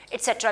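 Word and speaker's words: et cetera: बोलते हैं और आगे एट्सेट्रा लिख देते हैं। सो इसको प्रोनाउंस एट्सेट्रा करते हैं, और लिखा इसको शॉर्ट में कैसे जाता है, I hope it's ड्राई, ETC dot, actually it इज एट्सेट्रा।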